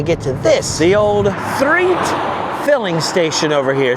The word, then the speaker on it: Threatt: Usually I'm just cruising down Route 66 to get to this, the old Threatt Filling Station over here. Spelled like threat with an extra T.